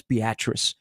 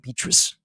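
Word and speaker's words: Beatrice: so they went through how to pronounce beatric it's not beus yeah beatric so I'm okay with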